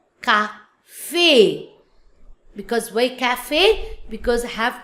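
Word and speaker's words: café: Without accent, the sound is kaf. But now with accent, then the sounds of cafe. In English is cafe, but in French, cafe.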